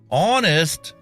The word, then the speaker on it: honest: Honest, the H is silent.